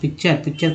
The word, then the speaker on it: picture: पिक्चर का जो spelling होता है PICTURE, इसमें TURE को चर क्यों पढ़ते हैं?